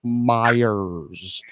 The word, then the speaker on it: Myers: okay first of all let's say it correctly Michael Meyers Michael Mars what he no you're say you're saying Mars like the like the planet Mars Michael Mars okay if